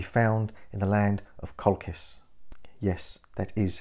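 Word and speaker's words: Colchis: it can be found in the land of kolkis yes that is how it's pronounced how will he get there he will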